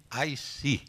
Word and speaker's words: ISEE: solution adopted in Brazil not to spell, but to express acronyms always as a word. In our case, ISEE would be, in English, IC.